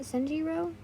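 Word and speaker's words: Senjuro: That's how it's spelled here, but isn't it Senjiro?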